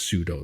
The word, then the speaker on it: sudo: that you wrote on the BSD is absolutely pronounced pseudo then cuz you wrote it cuz I wrote it.